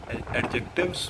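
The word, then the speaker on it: adjective: करेंगे जब तक कि देखो इसको आप बोलते लिखते हो एडजेक्टिव पर इसमें दी साइलेंट है सिर्फ बनावट एडजेक्टिव और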